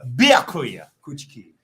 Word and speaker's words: Byakuya Kuchiki: You just left out one syllable. Byakuya Kuchiki.